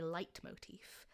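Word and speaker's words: leitmotif: Um, particularly in music, it's called a light motif, which is spelled like L E T and then M O T I F.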